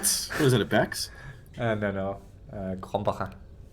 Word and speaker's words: Krombacher: Krombacher. Pronounce that again? Krombacher. Krombacher? Almost. Krombacher.